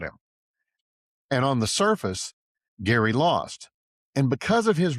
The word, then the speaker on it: Gerry: Though history got the pronunciation wrong. He said it with a hard G like Gary, and history remembers it as Jerry, as in Jerry Mandering.